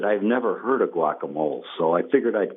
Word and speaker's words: guacamole: No, she just apparently said she knows that in Mexico it's guacamole and anywhere else in this country it's guacamole.